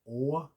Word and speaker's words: Å: I learned the sound as O first in English. O-H. O. O. O. But it's a little bit extra. It's got a kind of flick on the end.